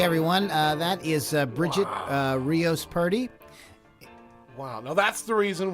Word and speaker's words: Purdy: spell it does b-r-b-r-i-g-i-t-t-e-r-i-o-s-p-u-r-d-y it's party not pretty pretty party yes but